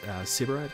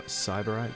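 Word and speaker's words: Sybarite: to go ahead and use sybarat green or cyberite green I've had a few different pronunciations for this one but I've always referred to it as sebrite green so as you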